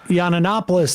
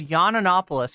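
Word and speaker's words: Yiannopoulos: Tim P so yeah Sam says yannopoulos he adds an extra uh an extra syllable um uh very no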